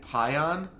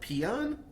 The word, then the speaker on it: pion: Oh, so it's it's wirewood or it's weirwood and pion. It's pion. It's not peon really.